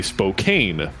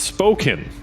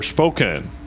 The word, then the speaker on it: Spokane: english structure it's spelled like you would say spokane s-p-o-k-n-e but it's not pronounced it's spoken or spoken so wooster what's my favorite the worst word